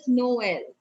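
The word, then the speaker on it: Noël: like the word is noel we'll put it on e and it comes the pronunciation goes no l no l we are going to get sound of both the vowels okay like that is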